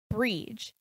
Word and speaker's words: Brigid: say the goddess bridge because that's the irish pronunciation of it she was a very